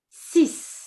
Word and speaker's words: six: But we say sis sis. And this is pronouncing the x like a s.